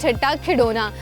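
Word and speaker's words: ٹھٹہ کھڈونا: बट you could see एट the back ये लिखा हुआ है ठट्टा खिडौना, जो कि एक्चुअली पढ़ा ऐसे खिडौना जाता है, लेकिन अगर इसकी एग्जैक्ट प्रोनाउंसिएशन बताऊं दैट इज ठट्टा खिडौना।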